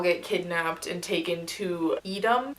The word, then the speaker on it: Edom: And they all get kidnapped and taken to Edom. Am I pronouncing it correctly? I think it's pronounced Edom.